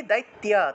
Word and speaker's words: দৈত্য: আছে চাইলে এই যে ত এর সাথে জফলা আছে না জফলাটাকে চাইলে রসইকার অন্তস্থ অয়েলি লিখতে পারেন উচ্চারণটা হবে দৈত্য দৈত্য এভাবে দৈত্য অর্থাৎ তপ